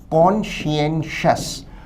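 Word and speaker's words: conscientious: उच्चारण है कॉन्शियंशियस।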